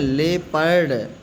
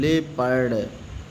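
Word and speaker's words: leopard: एल ई है लेपर्ड लियो नहीं लेपर्ड जैसे ये जेफर्ड जेपडी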